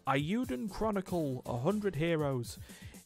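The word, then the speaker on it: Eiyuden: It's the sound of a plane rocketing by. Euden.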